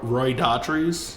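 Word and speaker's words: Roy Dotrice: Roy Daughtry.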